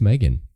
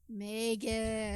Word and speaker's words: M3GAN: let's talk about movies the next one is Megan Megan or M3 gan yes um that is how you pronounce it I'm sure yes so it's been